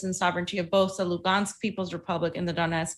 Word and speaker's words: Lugansk: That Donetsk and Lugansk is the Russian pronunciation. It's not Luhansk.